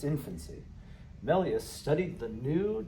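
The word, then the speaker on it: Méliès: melus which is pronounced here this is your pronunciation key melus this 2011 movie portray him as an as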